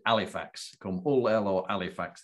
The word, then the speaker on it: Halifax: it's now a nightclub in halifax or pronounced as we pronounced it alifax calm all el or